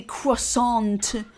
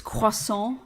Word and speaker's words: croissant: You don't um pronounce the T in that word.